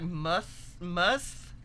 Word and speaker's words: musth: Is that pronounced must? Pretty much, yeah.